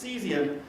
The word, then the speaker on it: CESIUM: to support it so cesium chemical sciences at the interface of education at the university of michigan we pronounce cesium is the program for